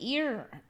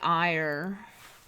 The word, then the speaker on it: Eyre: sure I did Lake ear Lake Eyre it's interesting because they call it Lake Eyre sounds like Lake Erie almost Lake Eyre I don't